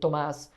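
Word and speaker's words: Tomás: my class name is thomas you would say tomas uh how do you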